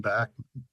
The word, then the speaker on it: Bachman: that was named after I think the family in that case pronounces their surname Bachman okay he was a